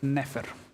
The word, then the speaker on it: nfr: as well uh the if you have NF NFR in order to pronounce it we say neph this is not trying to reconstruct Egyptian it's just that egyptologists have agreed to pronounce it neph this is no correlation to what it actually sounded like yeah exactly so if